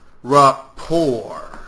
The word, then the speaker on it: rapport: definition Rapport report report pronounce rapor you knows a t in it noun relation connection women